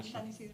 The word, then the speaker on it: San Isidro: Did I pronounce that correctly? Yeah, San Isidro.